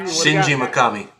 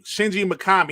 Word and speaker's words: Shinji Mikami: can't say his name uh shinshili makat makami shinji makami thank you shinji mikami he said um he wants to make smaller